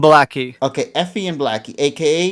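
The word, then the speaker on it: ブラッキー: How do you say it in Okay, Effie? it's Effie and Blackie.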